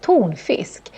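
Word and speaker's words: tonfisk: funny because tuna but we actually say tone Fisk which means tuna fish and it's also a compound word tune Fisk so we put them together but still the stress isn't both words this plant is also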